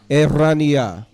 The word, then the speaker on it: Eraniyah: So I don't say Eraniyah. It's Eraniyah. Eraniyah. My name? For the people, so my name comes from Er. Ayin Resh means lively or alive, awake. Eraniyah, my God is lively, or liveliness of God.